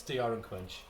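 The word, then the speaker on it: D.R. & Quinch: getting this PR he kept pronouncing it corre incorrectly call it the doctor and quinch but it's Dr and quinch and it's based I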